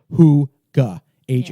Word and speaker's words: hygge: book of hygge and it says pronounced who age oh oh GA but it's spell hyg GE and yes so this